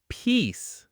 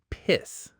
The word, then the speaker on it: peace: Number 3, peace, not piss. Think of it like peace.